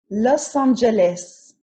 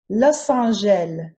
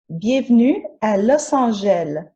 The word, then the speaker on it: Los Angeles: as chicago los angeles european francophones will say los angeles but the more canadian french pronunciation is los angeles los angeles new orleans is the